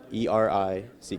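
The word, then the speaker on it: Erick: So, you spell it right? E R I C K.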